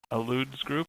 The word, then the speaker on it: Alludes: Alludes group is how I would pronounce it. Like allude.